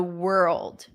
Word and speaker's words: world: were you in the world okay now let's get to the word that everyone's here for world so we practice the beginning were were were and then it's a